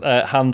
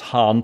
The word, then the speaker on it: Han: Also pronounced Han Solo as Han to rhyme with ban or tan. I've never heard it said any differently, but David decided it's Han to rhyme with Narn or Barn.